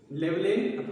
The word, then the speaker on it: Llewellyn: It received the John Llewellyn Rice Memorial Prize. John, J-O-H, John, Llewellyn. Llewellyn, okay, Llewellyn Rice Memorial. See the pronunciation, children.